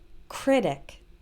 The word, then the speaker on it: critic: This has the stress on the first syllable, critic.